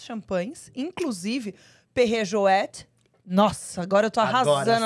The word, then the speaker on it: Perrier-Jouët: Perrier Jouet. Sempre Jouet. no francês, quando tem a trema, a gente pronuncia a última letra.